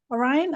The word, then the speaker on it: Orion: somebody new here today Orion am I spelling your pronouncing your name right yeah you oh great welcome